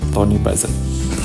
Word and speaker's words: Tony Buzan: Siapa yang pertama kali memformalkan istilah ini, penemunya lah istilahnya ya, dia disebut namanya adalah Tony Buzan, kayak gitu kali bacanya, Tony Buzan.